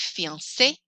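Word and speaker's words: fiancé: at where they're used accented is used on words like fiance to make an a sound at the end sounds like e like the word jet this is the word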